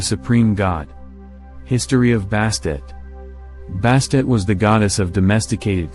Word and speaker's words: Bastet: a never-pronounced tone as bastet the perception of the deity turned into a more female-like figure emphasized by the pronunciation of the ending T sound of her name which has often been left silent the term vast it